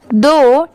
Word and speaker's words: though: दो, THOUGH। अब बहुत सारे लोग सोचेंगे कि इसे थो क्यों नहीं पढ़ेंगे, बट ये रॉन्ग होगा। इसकी प्रोनाउंसिएशन क्या है, दो की है, इसे दो पढ़ा जाता है।